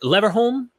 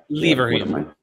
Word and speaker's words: Leverhulme: her, and was I'm not sure if I pronounce this right, Leverholm Fellow at Pembroke College? Yeah. Leverhulme.